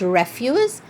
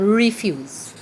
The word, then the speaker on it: refuse: follow your instruction so this is pronounced refuse and refuse right same spelling different sound different meaning so we can say